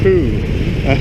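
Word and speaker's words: Thu: Her name is pronounced Pooh, but it's actually written T-H-U.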